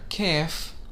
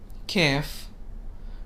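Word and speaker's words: كاف: on to the letter k f k f which is similar to the sound of k in english this letter also takes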